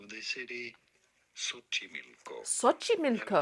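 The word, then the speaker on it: Xochimilco: hocky milco we are looking at how to pronounce the name of the cityi milco SOI milco it's not milco so they're found in the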